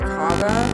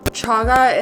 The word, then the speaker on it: chaga: mix it's chaga and am I pronouncing that right is it kaga is chaga and lemon bomb should ease